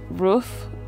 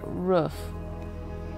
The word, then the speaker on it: roof: of my videos uh so he says rof like rof I don't I can't even say it like him without tripping over it um but uh and I say roof so roof and roof roof is just the way we say it in the Midwest and I think it's